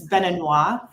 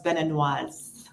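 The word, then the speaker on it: Béninois: In French, it's Beninois for a man, or general, and then for a female, it's Beninoise.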